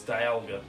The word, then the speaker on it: Dialga: monster but I honestly don't know how to pronounce that's another one it's Dialga yeah dad but like I just threw out